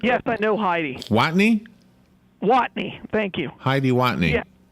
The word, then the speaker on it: Watney: Heidi Watney. Heidi, it's wacky. You're saying it wrong, and now it's messing me up. What is it? Yes, I know Heidi. Watney? Watney.